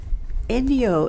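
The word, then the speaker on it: enryo: Enyo is a Japanese word which sounds like in Leo.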